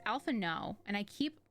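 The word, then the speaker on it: Alphinaud: alpha naught i'm sorry it's not elf not it's alpha no and i keep mispronouncing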